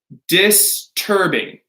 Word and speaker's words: disturbing: Disturbing. Disturbing. Right? It's a hard T.